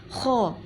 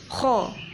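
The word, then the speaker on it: خ: Kalau pengucapan kho ada ngoroknya, kho, bibirnya moncong, kho.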